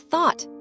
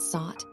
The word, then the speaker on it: thought: "It's thought, not sought.